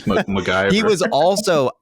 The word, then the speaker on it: McIver: So this character Derek is played by Blake McIver Ewing. I might be mispronouncing any of those names besides Blake, but it's MacGyver.